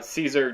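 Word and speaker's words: Szczur: they have Matt Caesar uh Caesar not spelled like that it's a very weird way of spelling his name I he hit a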